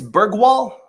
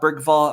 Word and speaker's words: Bergvall: about Lucas apparently it's bergwall someone said that to me it's not bergvall apparently the V is pronounced like w I know in a